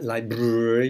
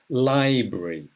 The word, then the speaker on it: library: Bank, hospital, hospital, school, shop, train station, excuse me, market, airport, post office, town hall, library, not library, no, library, factory, church, hotel, pub, doctor's surgery.